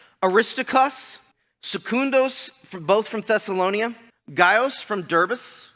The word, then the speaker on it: Gaius: Gaius from Derbis. There's not an S there, but there's an S in the pronunciation.